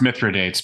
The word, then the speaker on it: Mithridates: idiot there's literally an article in Wikipedia called Mithra dates antidote oh no and it's talking about it is pronounced mithridates by the way that is accurate and it's